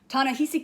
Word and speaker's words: Ta-Nehisi: Ta-Nehisi Coates.